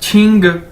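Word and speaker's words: qi: कि ये क्यू है, चाइनीज के अंदर क्यू को 6 से प्रोनाउंस किया जाता है। छतरी वाला जो 6 है, क्यू को इस तरह से बोला जाता है। तो क्यू आई यानी छी, ठीक है।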